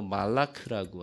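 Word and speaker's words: מלאך: 네, 히브리 말로 말라크라고 합니다.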